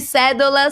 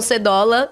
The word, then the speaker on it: Sedola: Viviane Cédola, seja bem-vinda. Obrigada, Anitta, um prazer. Vivi, depois de anos te entrevistando, eu descobri na semana passada que a pronúncia correta é cédola e não cedola, que já daria por si só motivo de piada.